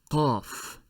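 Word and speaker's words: قاف: I am sorry, Qaf, Qaf.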